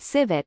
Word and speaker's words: civet: In order to have the correct pronunciation of civet, remember that the C sounds like an S. Its pronunciation is easy when you know that civet rhymes with the word visit.